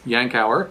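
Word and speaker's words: Yankauer: are the yankow suction yankow is how you pronounce this we have the plastic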